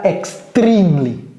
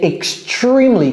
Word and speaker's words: extremely: Ok, donc ça, c'est pas extremely. C'est extremely, comme si c'était un arbre. Tree. Un arbre, c'est tree. Ce n'est pas tree.